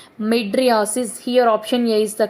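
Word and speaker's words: mydriasis: none of the above pupils of the eye becoming fixed pronounced as madriasis here option A is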